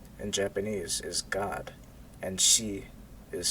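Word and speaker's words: 四: Japanese is God, and shi is 4. 4 also has a special connotation in Japan. It's considered an unlucky number because it's pronounced the same way as their word for death.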